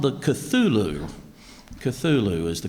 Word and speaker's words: Cthulhu: Cthulhu is the correct.